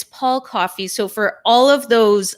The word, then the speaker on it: Coffey: I was just warned by our producer, James Black, that I mispronounced. It's Paul Coffey.